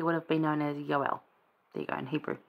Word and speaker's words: Joel: we're in Hosea and Joel now we say Joel but his name is probably best pronounced yoel as in Jehovah and Elohim combine that's kind of what